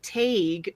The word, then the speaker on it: Taidgh: And Taig, I'm just guessing at this pronunciation because it's spelled Taidgh. Wait. Taig. Did the writers you can pronounce this so many different ways. Honestly, I think Luthern was just like, Taig. Yeah, that's his name.